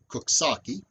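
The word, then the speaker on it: Coxsackie: on the west side of the river that's pronounced kuksaki and it comes from an algonquin word meaning the place of the owls kosaki was a major river port in the 19th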